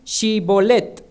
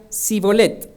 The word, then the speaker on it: Shibolet: Entonces le decían, ahora pues, di Shibolet. Y él decía Sibolet, porque no podía pronunciarlo correctamente.